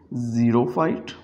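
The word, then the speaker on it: xerophyte: इसको हम प्रोनाउंस करेंगे ज़ीरोफाइट, इसको प्रोनाउंस करेंगे जाइलम, इसको प्रोनाउंस करेंगे ज़िफाइट। सो एक्स को हम प्रोनाउंस कर रहे हैं विद द साउंड जी।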